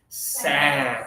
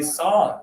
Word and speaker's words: sand: So it's not a a lot of students want to say song, but that would be more like the British pronunciation. In the USA, we do it a little differently. A a sand like after and happy.